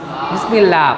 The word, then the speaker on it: বিসমিল্লাহ: বিসমিল্লাহ, পাতলা হবে। দেখো এইটা কিন্তু একটা গুরুত্বপূর্ণ নিয়ম। আল্লাহ শব্দের পূর্বে যদি জের আসে তাহলে আল্লাহ শব্দটা হালকা করে পাতলা করে উচ্চারণ হবে, যেমন বিসমিল্লাহ।